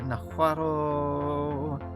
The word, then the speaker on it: Nahuatl: Nahuatl. The L in Nahuatl is silent, but every time I see the word and I read it in my head, I always pronounce the L.